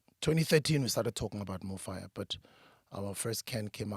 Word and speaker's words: Mofaya: this can more fire we decided with the Faya instead of the f-i-r-e because we believe f-a-y-a can be pronounced in any language in any International or local African language Spanish Portuguese English whatever language it's still spelled or pronounced the same way more fire and a lot of